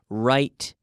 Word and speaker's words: write: careful with the pronunciation remember the W is silent there that's the important thing